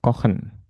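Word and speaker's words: Kochen: kali ya dilatih ya kohan dibacanya H tapi kalau yang dapur dibacanya s ya k k kalau kue ken ku ha ken ken hati-hati ya ch ya ada yang dibaca h ada yang dibaca ash ken kusen packen wen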